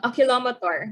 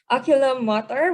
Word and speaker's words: oculomotor: your optic your oculomotor aquila akilomator that's how i used to pronounce it oculomotor whatever your trochlear your